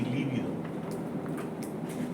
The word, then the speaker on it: líbido: Es muy importante hacer una diferenciación de acento, como hace rato. Libido y líbido. Existen las dos palabras. Libido es el apetito sexual, se escribe con B larga. Libido. Y líbido quiere decir blanco amoratado, se escribe con B corta.